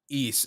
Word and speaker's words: Ys: I Okay, it's I have I have like a bit of a weird history with East. That's how you pronounce it, right? East. Yeah, East. Yep.